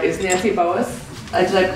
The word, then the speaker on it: Nancy Boas: Starting with the furthest away from me over here on my right is Nancy Boas. Did I pronounce that correctly?